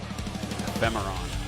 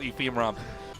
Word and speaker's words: Ephemeron: Ephemeron. Ephemeron. Ephemeron. Ephemeron. Ephemeron? Ephemeron. The producer says ephemeron. It's not ephemeron production. Ephemeron. Ephemeron? Yeah. Game May cause bloating. Do not take alcohol with ephemeron.